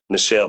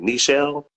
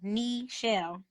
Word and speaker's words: Nichelle: because I keep saying Nichelle but you say it differently nishelle n sh like the knee on your body knee shell like the knee on